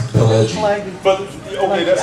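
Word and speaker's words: Pileggi: I absolutely adore Mitch Slaggy. Is that how I pronounce it? Pelleggi.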